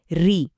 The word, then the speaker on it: ऋ: वैसे तो यह एक स्वर है लेकिन आजकल की हिंदी में इसका उच्चारण र और इ को मिलाकर मतलब ऋ जैसा होता है। जैसे ऋषि शब्द में हम बोलते हैं।